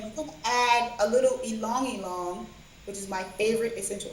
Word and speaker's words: ylang ylang: and you're gonna add a little ylang ylang, which is my favorite essential oil.